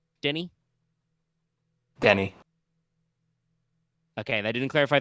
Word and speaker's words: Danny: you could just be Denny it doesn't actually yeah like I think people just call them as in Denny's but without disease Denny Denny okay they didn't